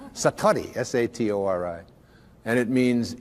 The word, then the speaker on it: Satori: Japanese but it's called Satori I'd love to say that Satori SAT Ori and it